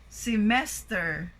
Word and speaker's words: semester: Oh, it's not semester, but it should be semester.